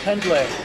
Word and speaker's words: Pendlay: Pendlay.